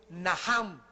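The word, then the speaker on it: nacham: el Antiguo Testamento es naham en el hebreo que se escribe nachan la ch en el hebreo se pronuncia como j y significa cambiar la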